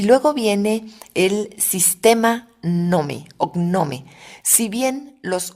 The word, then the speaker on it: GNOME: orgullosamente de origen mexicano nome que se escribe nome en que es gnome3 es un entorno de